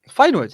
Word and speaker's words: Feyenoord: And I hope I pronounced that right. Feyenoord, yeah.